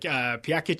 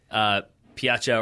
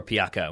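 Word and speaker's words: Pjaca: Like Piakic scores. Sorry, I've pronounced that incorrectly. Piacha or Piaca, whichever you want to go with. The first one.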